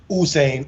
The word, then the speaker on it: Usain: Looks like Usain, correct pronunciation is two O's, like I said, Usain or Hussein.